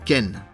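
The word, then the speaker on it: 県: premier suivi d'un suffixe désigné par ce kanji qui se prononce Ken par exemple pour la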